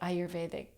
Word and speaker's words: Ayurvedic: you you know up to date on my ayur veic journey did I say it right okay good